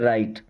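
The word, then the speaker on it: write: Then राइट, दोस्तों इस word में मैंने कई बार आपको बताया कि डब्ल्यू साइलेंट होता है, इसे क्या पढ़ते हैं, राइट।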